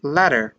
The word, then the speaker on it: latter: You might hear people pronounce it as latter, latter, latter, but it's common in the United States to pronounce it as latter because of the T and the D switching sounds very often in English in the United States.